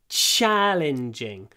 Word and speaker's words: challenging: challenging task every time tried to pronounce it with this bit of of your tongue the ch ch challenging CH challenging task lots of sh in this sound challenging okay the next one